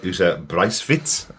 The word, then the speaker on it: Uta Briesewitz: This episode was directed by Uta Briesewitz, I believe would be the pronunciation.